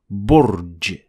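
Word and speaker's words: برج: Notice how we say ba, and it even comes back in how we spell it in English. B. A second example is burj.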